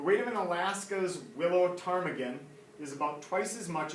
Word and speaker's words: ptarmigan: weight of a willow ptarmigan I know it looks like pitar Megan but a time you don't say the P it's a silent P ptarmigan alright so it's